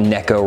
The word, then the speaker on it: neko: it the nico rig some people call it a necco rig it originally in japan and the word neko means cat so it's like the cat rig and that's how you're supposed to pronounce it so that's all